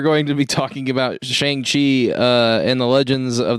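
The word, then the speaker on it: Shang-Chi: fine there is 10 of them nope it's shangchi i also keep saying it wrong shang chang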